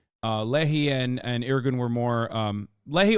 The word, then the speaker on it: Lehi: And out of them, the Leahy and am I saying it right? Lehi. Lehi.